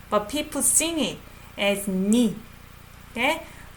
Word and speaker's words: 네가: You pronounce it as 니. Because this is the same sound as that one.